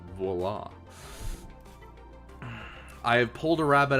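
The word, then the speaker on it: voilà: to your friends I don't think I do voila guys voila for those of you who are uncultured that means Tada expect except it's spelled voila and it's pronounced VOA I have pulled a rabbit out of my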